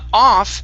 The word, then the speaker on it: off: word off now uh off we're always going to have to pronounce the f sound here of of